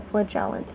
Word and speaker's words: Flagellant: Yeah, the Flagellant. Yes, that's how you say it.